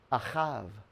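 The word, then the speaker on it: אהב: in the middle this is the word love ahav is how you pronounce it so father who is the bull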